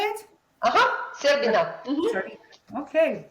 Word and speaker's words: Serbina: Serbina. Sorry. Okay, like that. It sounds like there is a dessert that sounds like that.